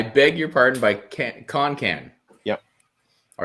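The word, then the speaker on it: Kon Kan: hit was called i beg your pardon and it's spelled k-o-n-k-a-n can-con con can't sorry con can i i'm you probably heard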